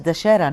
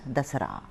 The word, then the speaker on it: Dasara: You pronounce it as Dashera, na? We pronounce it as Dasara.